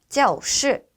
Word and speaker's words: 教室: 네, 교실은 教室, 教室라고 발음하는데요. 네, 教에서 우리가 教室에서 教는요. 동사로 발음하실 때는 성조 일성으로 발음해 주시면 되고요. 네, 교실처럼 이렇게 합성어인 경우에는 성조가 사성으로 발음된다라는 거 주의해 주시면서 발음해 보도록 하겠습니다.